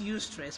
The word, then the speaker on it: eustress: distress is you stress it's pronounced you stress but you have an EU in front of stress so instead of the